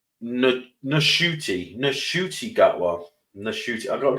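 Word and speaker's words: Ncuti: but H yeah it's NTI NTI gwa NTI I gotta get used to saying it because apparently you're supposed to pronounce the N apparently his mother was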